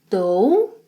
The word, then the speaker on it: dou: Eu dou, two sounds, dou, dou.